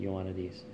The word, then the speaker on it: Ioannidis: I'm not sure how to say his last name. I'm saying it Ioannidis.